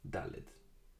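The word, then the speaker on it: דלת: And the next letter, Dalet. Like D in English. Dalet.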